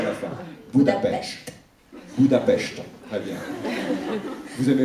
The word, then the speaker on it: Budapest: Comment doit-on prononcer Budapest en hongrois d'ailleurs? Parce que les Français disent Budapest, j'aimerais l'entendre de votre part. Budapest. Budapest. C'est plus joli. Avec T à la fin.